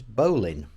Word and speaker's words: bowline: name's confusing is it a battle line like on the bow of a ship or is it a bow line like a bow and arrow well i'm led to believe that the correct pronunciation is bowling okay so with that